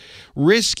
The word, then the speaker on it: RISC: ate corn computers they developed the RISC architecture risk is a different kind of chip design from